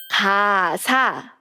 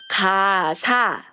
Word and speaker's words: 가사: K-pop song lyrics in Korean is 가사. 가사. Can you hear a good sound? Right. When you check the first syllable, it's 가. 그, together. So it's 가.